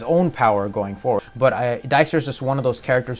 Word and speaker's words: Dijkstra: which is a suggestment dijkstra or dickster however you want to pronounce it but i pronounce it as dijkstra from the books but um he is